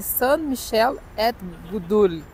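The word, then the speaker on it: Saints-Michel-et-Gudule: E eu peguei aqui a pronúncia dela é Catedral de Saint-Michel et Gudule.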